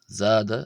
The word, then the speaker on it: ⲍⲏⲧⲁ: We then have the letter zada. Zada, which is like the zed in the English word zoo.